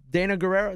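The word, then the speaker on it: Danai Gurira: I really want to know what Dana Guerrero.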